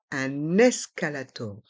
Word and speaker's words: un escalator: 1 et le E de escalator et on prononce un escalator un escalator un escalator un escalator un siège